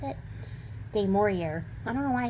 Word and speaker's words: du Maurier: How do you pronounce it? du Maurier.